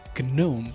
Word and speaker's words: GNOME: steam deck who are like why is it gnome it's pronounced gnome also if you watch Mr Robot